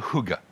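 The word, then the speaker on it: hygge: Mais surtout pour leur leur philosophie qui s'appelle Huga, ça s'écrit H GG. Ça se prononce Huga, semble-t-il. Si vous demandez un Suédois, c'est quoi exactement le Hugga, il sera pas capable de le définir.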